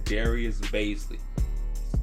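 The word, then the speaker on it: Darius Bazley: Somebody tried to tell me I was saying his name wrong. I've been watching Darius Baisley for years now, and I've never heard anybody pronounce his name any different than what I have. It's Darius Baisley.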